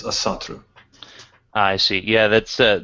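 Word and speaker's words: Ásatrú: the uh the as is it Asatru is that how you pronounce that typically you you hear it as asatu I see yeah that's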